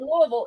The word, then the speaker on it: Louisville: If you're from anywhere else, Louisville. If you're from Louisville, it's Louisville. If you're from somewhere else, it's Lewisville.